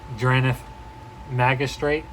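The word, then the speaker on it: Drannith Magistrate: shut stuff down speaking of shutting stuff down dranith magistrate that's how you say it your opponents can't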